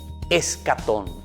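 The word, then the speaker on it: eschaton: La palabra es una palabra griega. ¿Y saben cómo se dice? Se dice escatón.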